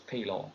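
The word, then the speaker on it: Pelor: sure though it's p it's that's how it's pronounced it's pay La it's it's stupid like that but it's said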